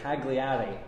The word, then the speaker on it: Cagliari: pronounce it and so we would all say cagliari but it's something they silent the G and I'm sure it's